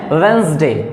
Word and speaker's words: Wednesday: तो वेडनेसडे नहीं पढ़ते हैं इसको, बड़ी बात यही है कि इसको पढ़ते हैं वेंसडे।